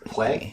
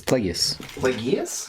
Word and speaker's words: Plagueis: about it isn't it i thought it was plague plagueis it's plagueis it's it's like a roman name yeah i don't want